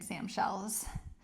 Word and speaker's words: Sam shells: And then float that top leg up for these elevated Samshells. If you're new here, you know that Sam rhymes with clam and that we've been calling these Sam shells for a long time.